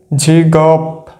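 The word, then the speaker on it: 직업: গৃহক নিচে থাকলে হয় ক, উপরে যেহেতু উঠে যাবে সেখানে আমরা ক উচ্চারণ করব। যেমন ঝিগপ, ঝিগপ, ঝিগপ।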